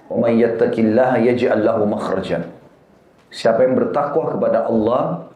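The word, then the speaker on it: مخرج: Bahasa Arabnya itu mim, kha, ra, jim. Bacanya makhraj.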